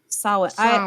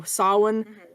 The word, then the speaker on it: Samhain: I've found out is whenever you've got an Irish type word that has an M, a B, or a D, or a T followed by an H, you're actually supposed to be blurring and slurring out that consonant.